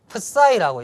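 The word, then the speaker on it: ψ: 무슨 촛대처럼 생기기도 하고 생겼는데 이제 이걸 프사이라고 읽습니다. 프사이는 뭐 크사이라고 이제 보통 읽습니다.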